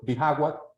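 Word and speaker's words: Bijagua: place that is called bagwa our J just so you know is pronounced as H in English so it's Baga natural wonders vas is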